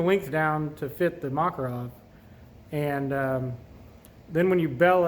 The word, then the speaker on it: Makarov: 9-millimeter Mac well I believe the correct correct pronunciation is Makarov it's it's a little bit the diameter is